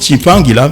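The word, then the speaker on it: Tshimpangila: Mais la prononciation chez nous, Congolais, on sait que c'est un nom bantou, on prononce Chimpangila.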